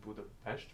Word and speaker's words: Budapest: came here only in budapes unfortunately I actually this year learned that it's called Buddha PES because the S is pronounced with SH and not s um but Budapest is a very beautiful